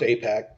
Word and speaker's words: AIPAC: Yeah, it's still pronounced AIPAC.